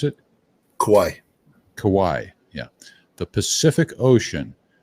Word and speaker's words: Kauai: they they did they did yesterday they said kawawi is that how to pronounce it Kauai Kauai yeah the Pacific Ocean is that just